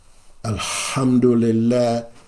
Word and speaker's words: alhamdulillah: we say alhamd ald you don't believe me listen to the more respected KES or Rec of the Quran readers of the Quran and you will hear most of them say alhamdulillah so I conclude with